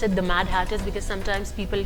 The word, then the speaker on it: Mad Hatters: you come up with it i'm glad you pronounced it the mad hatters because sometimes people call it the mad haters you know if somebody doesn't know they can